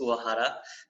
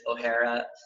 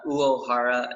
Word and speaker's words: Uohara: So the true Japanese way of saying it is Uohara, but a lot of people kind of blend it with an Irish pronunciation. Yeah. So it's like O'Hara, but any way that you want. Uohara seems to be the easiest.